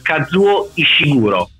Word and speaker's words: Kazuo Ishiguro: Mentre Anna, adesso io sbaglierò sicuramente la pronuncia, Kazuo Ishiguro.